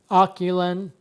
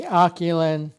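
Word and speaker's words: AOCHUAN: review of my Aochaun, which is the way I'm going to pronounce it. It's A-O-C-H, I think it's A-U-N. Okay, coming in, this is the Aochaun gimbal, and I'll just, for argument's sake, I'll just pronounce it that way.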